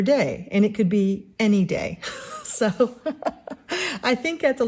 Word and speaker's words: Année: by Morgan O'Brien uh any day now it's the first mystery I believe is how it's pronounced um the accent is over the E so it could be an day I'm calling her any